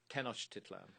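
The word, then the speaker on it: Tenochtitlan: Tenosh Titlan by the way. How do you say it? Tenosh Titlan.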